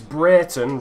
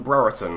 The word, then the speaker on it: Brereton: I've just checked my comments section between the first and second game, and apparently I'm pronouncing Brereton wrong. Apparently it's Brereton rather than Brereton.